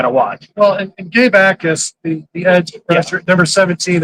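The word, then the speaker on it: Jacas: And Gabe Ais, when you're looking for him on the uh on the Illinois roster, you got to look at the Jay's. The Jay is silent.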